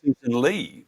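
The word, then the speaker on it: Ley: I think you have a Lee out of a Yeah, it's a Susan Lee rhymes with hey.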